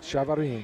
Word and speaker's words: Chavarin: I've been very impressed with the center, Adrian Chavarin. Is that how you pronounce his last name? Adrian Chavarin. Chavarin.